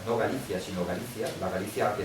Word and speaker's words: Galicia: Hungría incluía chequia incluía parte de Polonia incluía Galicia no Galicia sino Galicia la Galicia que está ahora en